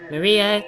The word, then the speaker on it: Maria: knew you'd come Maria three syllables will finally have to